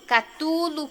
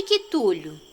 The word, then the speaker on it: Cthulhu: Tem quem o chame de Cthulhu, Catulo, Quitulo. Bem, eu chamo de Cthulhu.